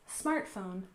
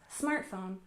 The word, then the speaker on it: smartphone: first we have smartphone we stress the first syllable smartphone smartphone and of course this